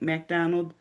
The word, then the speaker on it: MacDonald: MacDonald?